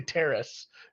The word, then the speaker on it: Terrace: hard time Terrence but I like to say Terrace because um that well it is Terrace no this kid yeah